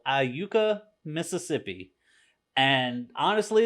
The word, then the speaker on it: Iuka: it like that because I'm used to saying Iuka Mississippi and and just general talk that's if you ask me where I was from I'll tell you I Yuka Mississippi just like it